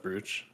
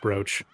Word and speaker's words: brooch: You've changed since she gave you that brooch. It's like you're the witch's prisoner. She mediated your relationship with George-sama, and now you're indebted to her. It's pronounced brooch. Brooch.